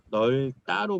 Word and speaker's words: 넓다: 이거는 널로 발음해야 돼 얘들아. 널따로 발음해야 돼요. 널따로 발음해야 되고 리을 비읍은 리을로 발음해 주는 게 맞아요.